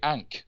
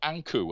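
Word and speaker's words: ankh: one who lives then ania is the way that the egyptians pronounce what we call today ank a nkh the sign of life so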